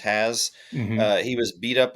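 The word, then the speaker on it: Hasz: I believe his last name is pronounced Has.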